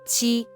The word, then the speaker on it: 七: This word is the first tone, so it should be qi.